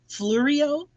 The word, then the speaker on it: Fleureo: Fleureo.